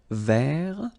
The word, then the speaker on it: vert: So masculine form, don't pronounce the final T. Vert.